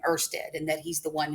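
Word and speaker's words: Ørsted: a data scientist named Hans Christian ersted that's pronounced ersted and it is likely that you are going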